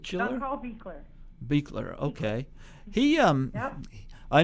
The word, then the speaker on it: Buechler: And, of course, John Carl, how do you pronounce his last name? Buechler? John Carl Buechler.